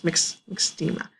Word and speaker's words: myxedema: MYX, as it's pronounced, is myxedema.